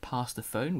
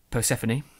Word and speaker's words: Persephone: up to episode called past the phone which is how I before you pronounced Persephone that's it I have